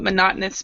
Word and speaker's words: monotonous: Does everybody know what monotonous means? Boring. Boring. Okay. So it's, and we actually pronounce it monotonous. Monotonous. So the stress. Yeah. So the stress. The second O is the stress there.